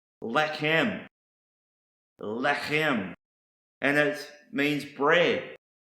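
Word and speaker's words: לחם: Another Hebrew word is pronounced lechem.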